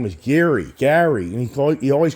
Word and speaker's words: Gary: And a lot of people think my name is Jerry because it's Gary.